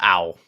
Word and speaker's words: Ao: It's pronounced Owl.